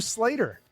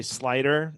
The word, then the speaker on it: Sleighter: Welcome to the podcast, Sleighter.